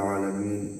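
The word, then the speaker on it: العالمين: আইনের উচ্চারণ করতে হবে আলামিন।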